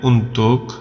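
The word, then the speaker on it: untuk: তোমার জন্য তাহলে বলবেন উন্তুক আওয়াক উন্তুক আওয়াক এখানে লেখাটা হচ্ছে উন্তুক কিন্তু যখন কথা বলা হয় তখন উন্তু বলা হয় উন্তু এই কটা বাদ দিয়ে দেয় ওরা এটা উচ্চারণ করার ক্ষেত্রে কিন্তু লেখার ক্ষেত্রে উন্তুক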